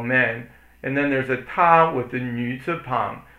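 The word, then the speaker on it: 她: And then there's a ta with the nü zi pang. That means a woman. Ta, it's pronounced the same way.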